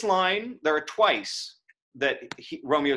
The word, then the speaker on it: Romeo: this is interesting because you could go you could elide romeo to two syllables and make it but romeo may not more validity right and that's an even line but it's not right you can hear that it's not right um and so this